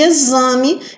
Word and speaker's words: exame: da mesma família e exame que é o x com som de z tá vocês vão ser